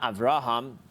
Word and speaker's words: Avraham: So we say every word has an accent. It's either on the last syllable or second to last. So most words on the last syllable, Avraham. It's not Avraham, it's not on the ra, it's on the hum, Avraham.